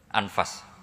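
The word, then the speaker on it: أنفس: maknanya kitab ter baik Kalau kitab terbaik bacanya bukan anfus tapi apa anfas ya nanti kamu debat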